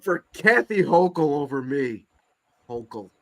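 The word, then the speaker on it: Hochul: Kathy hokel over me hok I'm not saying her name right but if you no that's correct hok that's right say her name and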